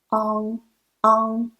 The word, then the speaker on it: ang: 慢慢 the next one ang it's just like ung in lung in Chinese Pinyin n